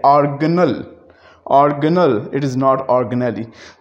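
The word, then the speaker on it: organelle: इसी तरह से बड़ा है तो ऑर्गन, छोटा है तो ऑर्गेनल, इट इज़ नॉट ऑर्गेनली।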